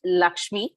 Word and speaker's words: LXME: she has set up lxme pronounced lakshmi india's first financial platform